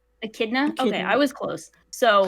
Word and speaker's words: Echidna: how do you say the white-haired enchiladas name echidna echidna okay i was close so oh it rounds